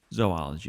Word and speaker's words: zoology: zoology don't say zoology zoology is the correct way to say it actually we should say zo like we're gonna go to the zo not zoo what yep but again